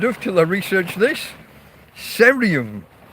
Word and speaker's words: cerium: Cerium. I presume it's a soft C rather than a K. Cerium, with the initials CE.